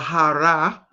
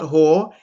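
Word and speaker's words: הר: you now breath reveal but ha or hara is how it's spelled but it's ha is a mountain like for instance in the bible it says mount hor it's not hor it's ha h a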